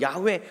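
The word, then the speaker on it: 야훼: 밝혔습니다 약 의 오늘 우리가 이걸 부르는 발음으로는 야외 오늘 선교는 영화라고 되었는데 사막 가장 극한 가까운 발음은 야외가 아닌가 생각이 되어집니다 2 하나님의 이름을 밝혀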